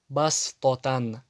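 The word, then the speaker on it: بَصْطَةً: И если буква син приходит над буквой сод, значит сод не читается, она превращается в букву син. Басто. Бастотан.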